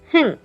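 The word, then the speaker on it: 흥: We will say hing. Hing. Because the zero sound here in the bottom is pronounced as a ng sound.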